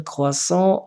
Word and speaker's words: croissant: Monsieur le croissant, la lettre est muette. Croissant. Croissant, T ne se prononce pas.